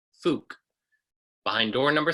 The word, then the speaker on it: Phuc: Approximate the sounds, but stay true to the pronunciation. Phuc. Behind door number 2. Make slight adjustments that don't sound like the original, but seem to make sense with the spelling.